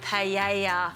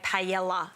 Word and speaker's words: paella: without him making a paella. I've said it right? Yeah, you have. You know, I know a lot of my friends say paella. No. Double L is Y.